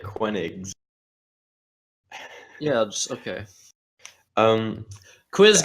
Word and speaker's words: Koenigs: He's calling the K a Q. That's definitely. No, wrong. I'm pronouncing it Koenigs.